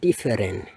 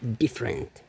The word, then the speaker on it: different: Nah, banyak orang mengucapkannya kayak different, tapi itu kurang tepat. Yang tepatnya adalah different. Oke, jadi seolah-olah yang ini tidak diucapkan. Jadi different.